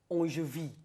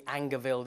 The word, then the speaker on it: Angerville: So I think it might be pronounced Angevie. Angevie. Because it's French, but obviously, our pronunciation will be Angerville there.